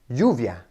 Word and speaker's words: lluvia: Next are the letters double L, which are pronounced ege, ege, which comes up in the words like lluvia or me llamo. And it's pronounced with a y sound, y, much like our letter Y.